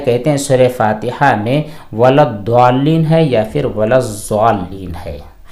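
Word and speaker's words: وَلَا الضَّالِّينَ: جی یہاں پر 2 چیزیں ہیں، ولضالین DWA اور دوسری صورت ہے ZWA، تو یہاں پر ولضالین جس کے اندر دال کا تلفظ ظاہر ہوتا ہے، ولضالین اس طرح پڑھنا جائز نہیں ہے، ولضالین یہاں پر ضاد ہوتا ہے، ضاد کے ساتھ ولضالین ہوتا ہے۔ اگلا سوال ایک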